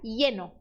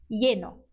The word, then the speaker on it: lleno: Você pode pronunciar ele como um som de I. Então, essa palavra ficaria lleno, lleno.